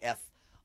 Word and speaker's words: Ef: uh e or it's EF but it's it's pronounced F A Tale of Memories and I um that